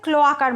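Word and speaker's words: cloaca: তো এদের যে অ্যানাসটা অনেকটা ক্লোয়াকার মতো, ক্লোয়াকা বা ক্লোয়েকা যেটা উচ্চারণ করবে কোনো অসুবিধে নেই।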